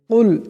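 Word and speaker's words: قل: আমরা বেশিরভাগ মানুষ নামাজের যে ভুলটি করে থাকি, কুল এখানে বড় কাফ আছে, কিন্তু আমরা কুল ছোট কাফে উচ্চারণটি করি। ছোট কাফ দিয়ে উচ্চারণটা করলে উচ্চারণটা শুদ্ধ হবে না, আমাদের নামাজটাও দুরুস্ত হবে না।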